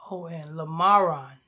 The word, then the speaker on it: Lamron: Lamron. Quan. Spell it. Quan. You said Lamron, didn't you? Oh, the first name is Lamron. Lamron. Lamron.